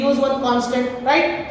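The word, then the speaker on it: rho: क्या बोलते हैं इसको रो बोलते हैं loops like P बट आईटी इस एन बी सोमवार विच रोमांस आगे व्हाट प्रोनाउंसड डेट व्हाट रो और ये रो हमारे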